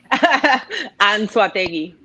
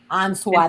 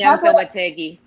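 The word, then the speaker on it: Anzoátegui: Anzoategui. Anzoategui. Spanish. You know In what? English, it's Anzoategui.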